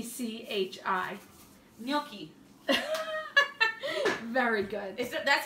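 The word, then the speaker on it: gnocchi: say the word GN o c CH i milky very good that's how you say it mm-hmm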